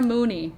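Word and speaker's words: Mooknee: Mooney. Not Melanie. Mooney. But she does spell it M-O-O-K-N-E-E. Mooney.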